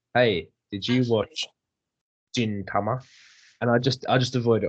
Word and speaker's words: Gintama: But he's pronouncing it like it's a J, but it's spelled with a G. He was a fucking twat. It's Gintama. Gintama.